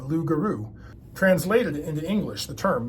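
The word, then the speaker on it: loup-garou: Louise solves one puzzle lug gag is a mispronunciation of lugaru translated into English the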